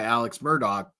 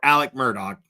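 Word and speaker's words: Alex Murdaugh: to hear claims by Alex Murdoch that or Alec Murdoch is how you say his name actually from what I understand Alec Murdoch uh that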